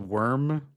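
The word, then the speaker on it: Wyrm: I think it's called Worm Span or Rim Span. How do you how do you pronounce out loud because I've never said it.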